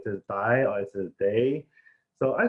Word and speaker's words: Dai: Okay, everyone, my name is Dai, but actually in Chinese they pronounce Dai. It's D-A-I.